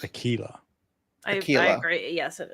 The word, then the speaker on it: Aquila: Battle engine Aquilla, I believe it's pronounced Aquila.